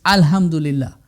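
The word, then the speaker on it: الحمد لله: But when you're starting Surah Al-Fatiha, you have to pronounce that alif. It's alhamdulillah, right?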